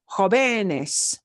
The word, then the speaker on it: jóvenes: Otherwise, I'd be changing the syllable of stress to jóvenes. The base word is joven. We want to preserve where that base sound is.